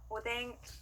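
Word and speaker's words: おでん: 오뎅, 오뎅. 네, 좋습니다. 이렇게 이 행들 앞에 왔을 때는요, 니은과 이응의 중간 발음으로 소리가 납니다.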